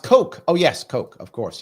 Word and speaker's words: Coke: So, pronounced Coke. Oh, yes, Coke, of course, yes. Oh, he pronounced it Cook.